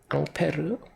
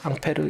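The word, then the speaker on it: Ampère: 보통 쓰고요 커트라고 읽어요 단위는 암페어 그래요 암페어 앙페르 프랑스 사람이겠죠 앙페르 이름을 따서 암페어 1암페어 그러면 굉장히 큰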